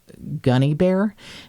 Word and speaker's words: Gunne: So I want to say thank you to, I'm going to call her Gunny Bear because it's spelled the way that those dresses in the 80s, gunny sacks. It's Gunne, Gunny Bear.